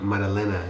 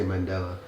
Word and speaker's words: Maddalena: How do you pronounce that? Maddalena. Yeah, I always want to say Mandela, but yeah, this is a good fight.